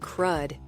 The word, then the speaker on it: CRUD: It took me a while to get used to saying CRUD instead of spelling it out.